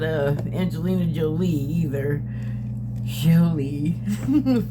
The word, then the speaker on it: Jolie: Jolie, pronounce it correctly.